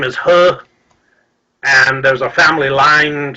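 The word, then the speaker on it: Heo: Still the He family in Korea, which would be spelled H-E-O, but many spell it like H-U-R, and put kind of an R sound on the end of that.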